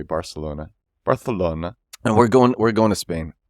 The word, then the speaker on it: Barcelona: It's actually pronounced Barcelona. That's how I believe I'm doing it right. Barcelona. It's pronounced like that. I say it the American way. Barcelona.